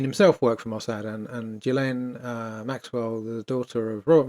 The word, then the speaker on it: Ghislaine: I keep hearing people calling her Ghislaine and stuff like that. As I know, her name is pronounced Ghislaine. It's a French name.